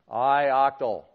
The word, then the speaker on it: ioctl: the thing that's doing the eye octal that's how you spell it by the way ioctl how many people think that should be IO cuddle good good good I octal anyway so the device